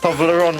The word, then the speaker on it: Toblerone: Because it rhymes on testosterone. Toblerone, my favorite.